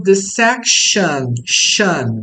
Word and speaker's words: section: em outros vídeos que quando a terminação é ou somente ion ah a pronúncia é an ou shan nesse caso shan T né shan de section então Aqui nós temos